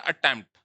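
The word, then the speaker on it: attempt: जैसे होता है अटेम्प्ट, अटेम्प्ट, unaccented, accented, अटेम्प्ट, ए साइलेंट है।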